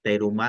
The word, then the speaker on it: teruma: desde el capítulo 25 la truma si se acuerdan o teruma así leída y pronunciada como se escribe en nuestro español eh